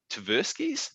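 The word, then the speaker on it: Tversky: um and you talk about uh carmen and taversky's is that how you pronounce his last name that's right yeah um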